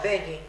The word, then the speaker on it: Begnis: Begnis. Sí, porque se escribe GN y se pronuncia con ñ.